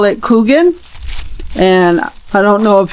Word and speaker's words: Kuchen: Um before I got here, I never heard of Kugan, but it's actually spelled like kuchen.